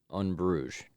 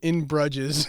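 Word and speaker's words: Bruges: one and two and unbrugge that's how how it's pronounced for some reason yeah I didn't know that I would have said in in brudges I always thought it was in brudges and then um so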